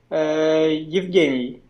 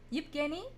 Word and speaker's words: Yevgeny: Yeah, it will be better, Eugene. I think American. It will be more American, yeah, and more easier. But what would be the correct way? Russian pronunciation. Yeah. Evgeny. Yevgeny? Yeah, right. But I wrote my name here in Belarusian pronunciation because I'm from Belarus. It's Yevgeny. Yevgeny.